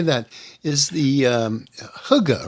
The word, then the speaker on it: hygge: Is the hygge, right?